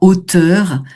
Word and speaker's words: hauteur: Donc on est en hauteur, hein. Hauteur, donc c'est un H aspiré, hein. Donc on va pas faire de liaison.